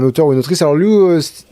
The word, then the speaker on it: Liu: ou une autrice alors Luin du coup ça se prononce lin c'est toujours une qualité